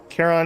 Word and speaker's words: Charon: Charon is pronounced Care-on. Like Karen with a K.